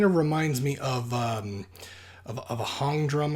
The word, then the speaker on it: hang: It kind of reminds me of a hong drum. I believe it's pronounced H-A-N-G, but I think it's pronounced hong drum, or like maybe like a